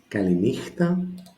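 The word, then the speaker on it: καληνύχτα: So this syllable takes the accent. Kalimera. Kalimera. Good morning. The opposite of it is kalinichta.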